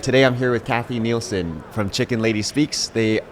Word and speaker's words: Nielsen: Oh, and it was Kathy Nielsen? Mm-hmm. Is how pronounce that Nielsen.